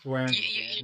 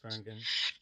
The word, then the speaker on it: Swearingen: I've Yeah, Swearingen. you're Swearingen. soft gin.